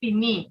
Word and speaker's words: finis: ja pini be careful although we have added s this s will not be pronounced the pronunciation will be pini only very important just remember